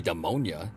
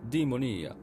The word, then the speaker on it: Demonia: It's not going to be Demonia, because it's Italian. Demonia.